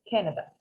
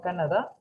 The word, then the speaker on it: Canada: Y si puedes, Canada lo puedes pronunciar en inglés. Canada. No Canadá, Canada. Canada. Esto, aunque suene, o sea, que se ve una A, se pronuncia casi como una E.